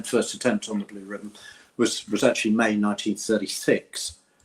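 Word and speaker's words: Riband: So, but it's pronounced ribbon. Ribbon. Well, ribbon or ribband.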